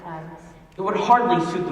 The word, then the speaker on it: Thames: Instead of singing about her evil aims, you could sing about her sturdy stems. That would rhyme with Thames.